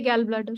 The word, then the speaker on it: gallbladder: CA gallbladder, sir. See a gallbladder. Gallbladder. Okay, although it is spelled as Gall, it is pronounced as Goll.